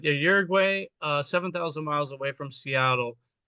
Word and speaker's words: Uruguay: We went to Uruguay, where we pronounce in English, I would say Uruguay, but Uruguay, 7,000 miles away from Seattle.